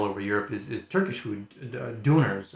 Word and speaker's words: döner: Europe is Turkish food, döners. I think they're called döner, if I'm pronouncing that right. D-U with like the two dots above it, and then N-E-R, the Turkish döner.